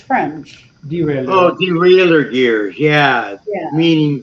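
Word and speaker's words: derailleur: okay the biker okay so how do you pronounce that Chris it's French derail oh derailer gear yeah meaning the raer gears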